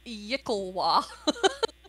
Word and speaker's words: yklwa: According to it is Yicklewa. Yakua!